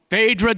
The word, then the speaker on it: Phaedra: After all, to help make that happen, please welcome Phaedra, the Surplus Lines Association of California Assistant Vice President of Events and Operations. The Brits pronounce her name Phaedra.